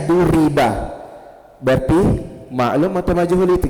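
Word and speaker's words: ضُرِبَ: Duriba bacanya duriba berarti maklum atau majhul itu kira-kira fi'il madi maklum atau majhul?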